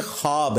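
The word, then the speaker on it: خواب: खवा वाओ अलिफ बा लेकिन पढ़ने में यह ख्वाब है वा साइलेंट हो जाता है ख्वाब पढ़ा जाता है यह लफ उर्दू में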